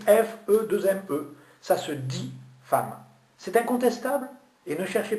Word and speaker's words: femme: Femme, ça s'écrit F-E-2-M-E. Où est-ce que vous avez vu une lettre A? Il n'y en a pas. Pourtant, vous dites bien femme et non pas femme.